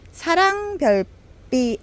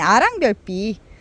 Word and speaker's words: 아랑별빛: 사랑별빛, 아니 아랑별빛, 사랑별빛이라고 읽었어. 아랑별빛이에요, 아랑별빛.